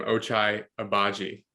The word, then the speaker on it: Ochai Agbaji: We'll just jump right into so honestly, one of my favorite players in the draft was I'm still having trouble pronouncing his name, Ochai Agbaji.